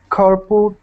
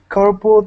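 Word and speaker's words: carpal: so go ahead Sergio don't say carpo tunel syndrome do say corpal tunnel syndrome go ahead comment this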